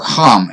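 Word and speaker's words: חָם: It says he lived 600 years and brought forth him, Shem, Ham, and Japheth, or Ham, if you will. The H is a hard H there.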